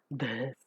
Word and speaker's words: this: Never pronounce this as this or this. Never allow the her sound to come over there. It is this.